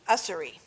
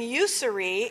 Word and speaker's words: Ussery: I was saying usury, and really it's ussery, which makes so much more sense because she's so much more inclusive than just saying you.